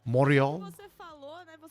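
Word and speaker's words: Montréal: I guess moral actually when people from Montreal pronounce Montreal, they don't actually say the T half the time and say moral.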